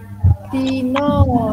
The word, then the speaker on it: dino: dino nah dino iki gawe swara o jejeg nah ini pakai swara o jejeg Apa?